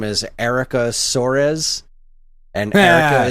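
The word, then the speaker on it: Aracha: is erica sores and erica is spelled like araka a-r-a-c-h-a and sores is spelled like soros like uh-huh yeah she's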